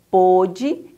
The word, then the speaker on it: pôde: Olha só, os ossos lhe doíam tanto que não pôde endireitar-se. Essa palavrinha com acento circunflexo, ela é pronunciada um pouquinho mais fechada.